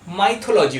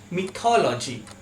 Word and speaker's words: mythology: এই ওয়ার্ডটার উচ্চারণ আমরা সবাই করে থাকি মাইথোলজি বলে, কিন্তু এই ওয়ার্ডটার কারেক্ট প্রোনাউন্সিয়েশন হলো মিথোলজি। মিথোলজি।